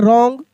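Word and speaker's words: wrong: देखिए डब्ल्यू आर है तो डब्ल्यू साइलेंट है। रॉन्ग road go straight and turn left.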